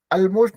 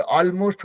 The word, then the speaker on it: almost: ALMOST ऑलमोस्ट नहीं होगा, ऑलमोस्ट होता है। तो AL वाला कॉम्बिनेशन है, that is pronounced as ऑल, है ना।